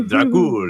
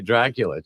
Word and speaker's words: Drakulich: Drakulich. The dragon. Okay, Drakulich.